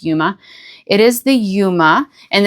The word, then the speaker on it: Yuma: I think it's pronounced Yuma.